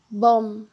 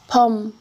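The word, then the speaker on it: 봄: Miam sozinho como patim continua com o som de M, mas é pronunciado fechando os lábios. Bom. Pom.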